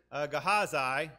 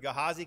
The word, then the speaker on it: Gehazi: this was elisha's servant so there are a couple of different pronunciations you can pronounce it gehazai or gehazi i'm going to stick with gehazi because for whatever reason that's stuck in my mind so that's what we're